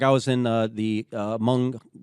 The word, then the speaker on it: Hmong: I was in the Hmong it sounds like hung if you look at it but they're pronounced among gorilla Territory and Laos